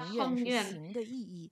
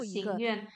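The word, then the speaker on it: 行愿: membaca Xingyuan, mengatakan ikra, katanya tulisan originalnya bacanya Hengyuan, tapi kita tahu ini maknanya Xingyuan, yaitu menjalankan ikra, ya. Dan untuk pembacaan kata yang baru juga Xingyuan. Lalu ada lagi, ada satu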